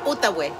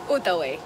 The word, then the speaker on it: Outaouais: - Outaouais. Outaouais. - Non, ça ne se prononce pas « oué ».